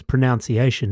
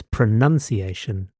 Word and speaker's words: pronunciation: On a similar note, there's actually no such kupu as pronunciation either. It's pronunciation. Kia tika mai e te whānau.